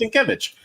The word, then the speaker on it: Sienkiewicz: It's pronounced Sienkiewicz.